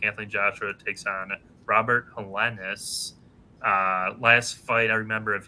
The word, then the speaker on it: Helenius: Yeah, it's Helenius.